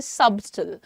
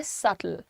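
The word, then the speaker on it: subtle: इसमें बी जो है हमें क्लियर दिखता है। तो कभी-कभी जिन्हें नहीं मालूम होता वो कहते हैं सबटल। लेकिन सबटल नहीं है इसका प्रोनंसिएशन। इसका प्रोनंसिएशन है सटल। सटल।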